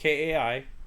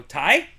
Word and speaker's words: Kai: a little bit so whenever i say my name is kai people i say todd and i go nope what kai and then i say they go tai like nope